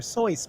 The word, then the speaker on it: Seuss: titles right you know his name isn't even pronounced Dr Seuss his name is Dr Seuss but his name always